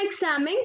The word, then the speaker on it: examen: En la palabra examen, pues tenemos la fuerza de voz en sa, por lo tanto, es una palabra grave o llana con acento prosódico.